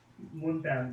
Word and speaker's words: Montana: Montana, but it's basically just Tony Montana. It's exactly the same as the Romanian person.